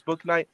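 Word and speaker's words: Bouknight: stealing my script because james book night or boo knight as it should be pronounced but his parents tonight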